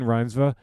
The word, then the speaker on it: Reinsve: Friday's Clayton Davis spoke to Rinva about the movies that influenced her, her ambitions as an actor, and possible director, and her connection to Mother Earth. Clayton began by asking Rhinva how to pronounce her last name.